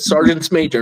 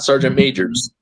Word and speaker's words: sergeants major: You would not believe how many sergeants major come over into, and that's a proper way to say it, sergeants major, not sergeant majors.